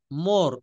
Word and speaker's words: more: Father he ইজ my father. He ইজ my father. শব্দের শেষে আর থাকলে এটা ব্রিটিশরা কিন্তু আর গুলার উচ্চারণ করে না।